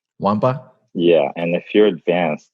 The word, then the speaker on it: Nwankpa: It's pronounced Nwankpa. The K and the N are silent, so Nwankpa. Nwankpa?